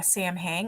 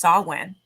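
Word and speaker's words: Samhain: the mistake of calling it that to uh Sam hang it's actually pronounced sawwin so strange because it's not even spelled like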